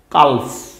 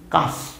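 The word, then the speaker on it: calf: বাম বাম মানে মরম এই শব্দটা কি মনে হয় সি এ কালফ এরকম মনে হয় না কিন্তু কালফ না এটা কি কাফ কাফ উচ্চারণ কি হবে সি এ এল এফ কাফ এই কাফ শব্দের অর্থ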